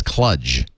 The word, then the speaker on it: Cluj: except he says instead of cluj he says clutch oh yep and there's